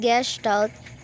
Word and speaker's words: gestalt: parts it was before pronounced gashed out is a german word that means roughly means shape form essence or whole gestalt is